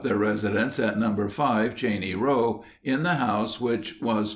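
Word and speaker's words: Cheyne Row: We are called a Cheney Row, properly pronounced Cheney Row, and are a gentile neighborhood.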